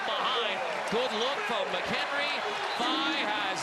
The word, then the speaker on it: Faye: If you're wondering, last year Babacar 5 was listed Babacar Fa. Then he went to the sports information staff and said, no, it's actually Phi. They pronounce it Faye here at the arena, but Hank Plona talked to Babacar today and said, what do you want Carter and Pete to say? He said Phi.